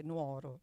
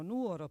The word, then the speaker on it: Nuoro: famiglia e e amici nessun nostro amico oserebbe mai dire Nuoro tutti dicono Nuoro perfettamente Cioè senza sbagliare accento oppure tempo fa eravamo